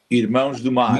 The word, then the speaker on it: Irmãos do Mar: Irmãos do Mar. Irmãos do Mar. I'll dumb it down and where I can pronounce it later.